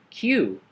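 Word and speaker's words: queue: and just look at the letter Q it's pronounced as cue cue cue up very good now let's go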